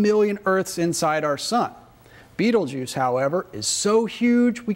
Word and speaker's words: Betelgeuse: It marks the shoulder star of the great sky giant Orion the Hunter, and its name is Betelgeuse, which most people pronounce Betelgeuse.